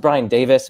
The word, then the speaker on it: Brian Davies: is brian well okay it's pronounced brian davis but it's spelled brian davies um his introduction to